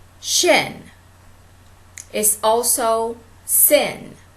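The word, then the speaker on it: שין: Shin is also sin. Is spelled S-I-N. Sin, but it's really pronounced shin. And it's spelled shin in Hebrew.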